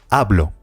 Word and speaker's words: hablo: I speak in Spanish hablo remember the age is completely silent how do you say